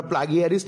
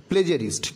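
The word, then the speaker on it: plagiarist: এখানে ক্ষমা করো তোমরা, প্লাগিয়ারিস্ট কিন্তু এর উচ্চারণ নয়, এটা আমি জাস্ট বানানটা দেখার জন্যে আমি এটা বললাম। দেখো এর উচ্চারণ হচ্ছে প্লেজারিস্ট, ঠিক আছে, প্লেজারিস্ট এর উচ্চারণটা হয়, কিন্তু বানানটা যখন আমরা লিখবো তখন এরকম ভেবে নেব মনে মনে প্লাগিয়ারিস্ট।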